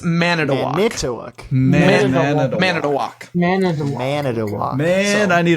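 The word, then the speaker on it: Manitowoc: We can't have mana towok because two woke. Is it manu? So you're overthinking the O's. Oh, so it's man at a walk.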